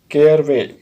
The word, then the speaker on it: caraway: Next word है केयर वे। इसका pronunciation ध्यान से देखिए, केयर वे, ठीक है। इसको अगर हम फास्ट से बोलेंगे तो केयर वे बोलकर हम इसे ख़त्म कर देंगे।